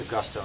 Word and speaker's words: Augusto: It's Augusto, not Agudo, right?